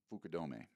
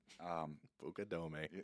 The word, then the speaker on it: Fukudome: I'm facing Kosku Fukudome. Ah, You know, Bucadome.